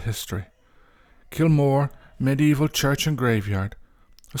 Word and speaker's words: Kilmore: I should mention that I will use the name Kilmore, not Kilmore, which sometimes appears, spelt with a Y, as the former is more faithful to the original Irish.